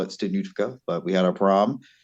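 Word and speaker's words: studniówka: We call it Studniutka, but we had our prom yesterday. Hold on. You said you got to pronounce that again. Oh, Studniutka? Fanuka. No, not Fanuka. No, Studniutka. Stunufka. There you go.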